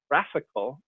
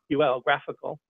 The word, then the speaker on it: GraphiQL: /GraphQL route, I'm going to return the Facebook graphical, it's spelled GRAPHIQL, graphical, IDE.